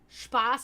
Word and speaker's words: Spaß: Spaß ist mit einem scharfen S, weil Spaß, das A wird lang ausgesprochen.